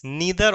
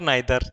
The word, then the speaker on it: neither: Sorry, नीदर और नाइदर।